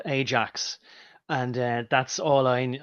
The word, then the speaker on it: Ajax: sure like you know I remember Ajax yeah uh or it's probably pronounced iax but it doesn't matter anyway